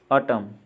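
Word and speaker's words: autumn: और इन अब देखेंगे एन साइलेंट वाले वर्ड्स। ऑटम, पतझड़।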